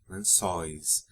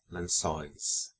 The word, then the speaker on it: lençóis: Lençol, lençóis. Notice the accents in and the open pronunciations of the vowels in the endings of nouns ending in EL and OL. Anéis, papéis, lençóis.